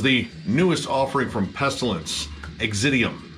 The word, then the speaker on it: Exitivm: newest offering from pestilence exidium i think that's how you pronounce that there's a lot of v's in the place of views i hate that but